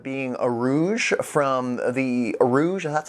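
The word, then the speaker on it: Urouge: talk about it being a Rouge from the Rouge that's how you say it the the final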